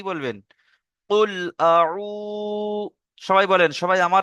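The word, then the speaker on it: قُلْ: আচ্ছা, একটু কেটে কেটে বলে দিই, দেখেন, কুল আউযু বিরাব্বিল ফালাক। আচ্ছা, এবারে আমরা একটু বানান করলে আমাদের উচ্চারণটা আরো সহজ হবে, দেখেন। প্রথম আছে কি? কফ লাম পেশ, কি হয়? কুল। কফ লাম পেশ, কুল।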